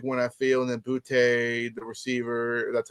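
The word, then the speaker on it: Boutte: And then Boute, the receiver, that's how you pronounce his name.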